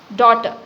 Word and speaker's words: daughter: Daughter. Daughter. So first 5 alphabets D-A-U-G-H, it is a single sound. Daughter. 2 syllables.